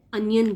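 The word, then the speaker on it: onion: Then प्याज, प्याज को ओनियन लिखते हैं, ओनियन नहीं बोलना है, अनियन बोलना है।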